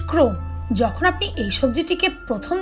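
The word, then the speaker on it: crosnes: দেখেননি number ten ক্রসনেস pronounced ক্রোন যখন আপনি এই সবজিটিকে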